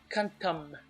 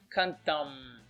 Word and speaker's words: cantam: And this at the end of words, be careful. It's not a plosive as it would be in English. So it's not cantam. I don't actually fully open my mouth. I start to make this M sound, but I don't actually open the mouth.